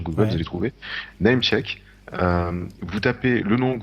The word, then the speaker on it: Namechk: nous, hein, un site qui s'appelle Namecheck. Ça s'écrit NAMECHK. .com, je crois. Vous cherchez ça sur Google, Ouais. vous allez trouver. Namecheck.